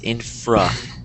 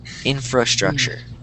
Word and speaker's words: infrastructure: And if you I I know it's probably hard to tell, but I am not pronouncing this first R. Um, but the correct way is infra. Infrastructure. Infrastructure.